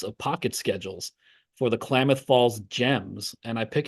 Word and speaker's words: Klamath: Klamath Falls, Klamath. I think that's what it is.